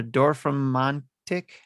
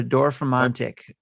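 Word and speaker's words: Dorfromantik: today and it this game dropped today uh door from montic or for montic they pronounce it right yeah uh dorf romantic that's a lot of letters yeah d-o-r-f-r-o-m-a-n-t-i-k door from Mantic so it is a city Builder puzzle game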